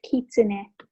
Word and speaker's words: kitsune: of the flames whatever yeah um also it's pronounced kitsune thank you yes that's what i need to